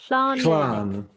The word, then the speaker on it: Llan: called, Kate, and I'll call on your Welsh pronunciation. It's called... It's a Welsh word. It's called Llan. Llan.